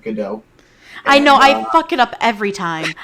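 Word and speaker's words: Gadot: a couple things uh first of all it's pronounced godot i know i it up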